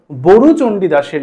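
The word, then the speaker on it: বড়ু চণ্ডীদাস: তো সেক্ষেত্রে দেখো বলছে চর্যাপদ যেমন প্রাচীন যুগের প্রথম এবং একমাত্র সাহিত্যিক নিদর্শন তেমনি মধ্যযুগের প্রথম সাহিত্যিক নিদর্শন হল বরুচন্ডীদাসের লেখা শ্রীকৃষ্ণ কীর্তন কাব্যখানি।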